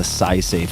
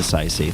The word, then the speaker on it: Saisei: Punch Coffee, go to my nonprofit foundation, the SciSafe Foundation, which focuses on cutting-edge scientific research and other uncrowded bets.